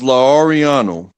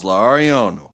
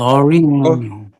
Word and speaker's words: Lauriano: No, the man's name was Lauriano, and Lo I will never be Oriano. I will never be able to pronounce it the way he pronounces, but it was Lauriano.